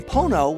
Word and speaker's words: Pono: music player called the Pono player to present songs as they first sound during studio recording session sessions the name Pono which rhymes with phono is actually a Hawaiian